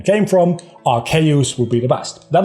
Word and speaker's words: Arceus: It should be Arceus, but we changed it into Arceus, right? And some people say, Arceus, which is fine as well. I do make a mental commitment to say Arceus rather than Arceus, but I chose that. I chose the fact that I wanted to say it Arceus because I feel like it makes more sense.